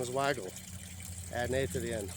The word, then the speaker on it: Weigela: It's called Weigela. His name's Christian Ehrenfried Weigel. So, you know, if you just add an A to the end of the name, that doesn't change the pronunciation of it.